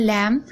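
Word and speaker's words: lamb: जैसे आप देख रहे हैं लम। यहां पर भी एम के बाद बी है तो बी साइलेंट है।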